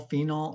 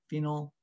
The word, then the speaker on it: phenol: it that's step two that's phenol phenol or phenol lots of pronunciations phenol is probably the most common one step three number